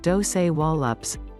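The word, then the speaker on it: Dosewallips: era ranch dozerlips river valley this narrow valley pronounced doce wallops is surrounded by some of the highest mountains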